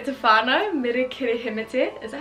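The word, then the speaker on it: Meri Kirihimete: Kia ora e te whānau, mere kere hemete.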